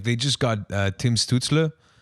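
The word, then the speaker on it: Stützle: Like they just got Tim Stutzle, that's how you pronounce it, I believe. Yeah, that's right.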